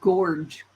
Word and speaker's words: Gorge: In 1900, 9 boys were named Gorge, like George, but with a hard G.